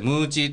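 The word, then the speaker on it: 鬼餅: 、はい、鬼餅と書いてムーチーということでね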